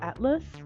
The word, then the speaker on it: ATLVX: And our squad name is called Atlas. It is spelled ATLVX.